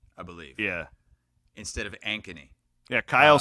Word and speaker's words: Ankeny: time with Ankeny as well he was saying anony I believe yeah instead of anony yeah Kyle says he's watching on YouTube he